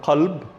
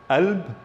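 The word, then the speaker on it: قلب: Some examples, the word qalb, heart, yeah, it could be pronounced as alb with a alb, or galb, okay, alb or galb.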